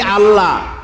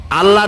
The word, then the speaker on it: আল্লাহ: যদি বলি আল্লাহ, তাহলে এটা অশুদ্ধ। আল্লাহর নামটা হচ্ছে আল্লাহ, বলতে গিয়ে মুখটা গোল হয়ে যাবে।